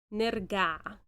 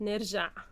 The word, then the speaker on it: نرجع: نرجع, not نرجع. Okay. نرجع. Yes. Okay. Now that's the missing Egyptian ingredient. Okay. Can you say it one more time? Yeah, خلاص لو كده هنضطر نرجع على مصر.